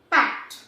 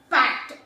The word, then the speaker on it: packed: So the right pronunciation is packed. Packed.